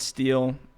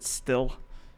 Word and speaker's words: Stihl: Americans pronounce it Steel. Europeans seem to pronounce it Stihl.